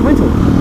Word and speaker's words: Wintel: Windows no he said wintle it's spelled like winter but with an L at the end win yeah w i n t e l instead of an R I thought it was